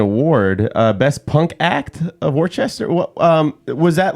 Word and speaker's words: Worcester: So it's pronounced Worcester. Okay. It's a common mistake. Yeah. Everyone pronounces it like incorrectly, and until you meet a true Worcesterite, they'll like let you know. Okay. But if you want to say it like us, though, it's Worcester. WOOSTAH.